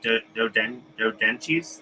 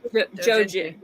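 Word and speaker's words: 同人誌: Like dodenchis? How do you say it? Oh, Dojinshi.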